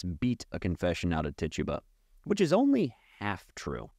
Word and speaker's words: Tituba: name Reverend Paris's own slave, a woman named Tituba. I've heard it pronounced all three ways, and there seems to be no rhyme or reason whatsoever. I will call her Tituba.